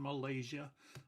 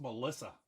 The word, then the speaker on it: Melissa: When they call my name at the doctor's office or something, they say can Malaysia. I don't know where they get that from. It's pronounced Melissa, like the girl's name.